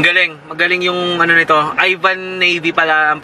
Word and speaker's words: Yvan navY: Ang galing, magaling yung ano nito, Yvan navY pala ang pronunciation doon ng mga papi.